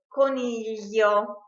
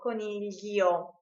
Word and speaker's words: coniglio: Also, we pronounce it li when the I is followed by a vowel, coniglio, G-L-I-O, coniglio.